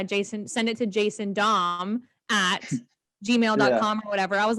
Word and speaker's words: Damm: it that's correct yeah i'm jason dom i play for rugby atlanta and mlr d-a-m-m commonly mispronounced it's how we used